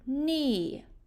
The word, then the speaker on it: knee: hear in the word knee there are two sounds in the word knee what's the first sound you hear in the word knee um good we've got our silent k and what's the second